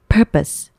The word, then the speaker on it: purpose: 스펠링만 보면 마치 purpose라고 말해야 될 것처럼 생겼어요. 그래서 발음이 헷갈리시는 분들도 계실 텐데 purpose. purpose. 강세가 앞에 있고요. pose라는 발음 자체가 없어요.